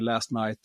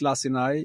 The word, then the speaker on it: Lacinai: Some people call me last night or, but it's Lacinai.